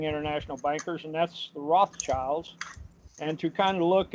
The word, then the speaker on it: Rothschild: there to call it the Red Shield Firm, which pronounced in German is Rothschild.